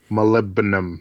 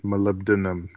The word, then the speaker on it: molybdenum: doing manually right now I gotta learn to pronounce that word molybdenum molybdenum dude sounded radius yeah molybdenum yep okay yeah